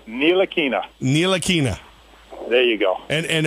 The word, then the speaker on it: Ntilikina: Frank Ntilikina.